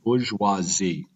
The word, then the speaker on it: bourgeoisie: Again, it's pronounced bourgeoisie.